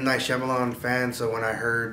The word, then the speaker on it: Shyamalan: Written and directed, her debut film, written by Isana Shyamalan, I believe Shyamalan Ding Dong, that's how you say her name.